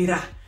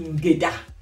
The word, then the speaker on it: ngeda: Quand il mange le D, il dit Ngera. Quand il veut bien prononcer, quand on prononce bien, on dit Ngeda.